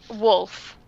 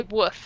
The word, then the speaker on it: wolf: it's a lot of Americans just say woof instead of wolf and it's bugging me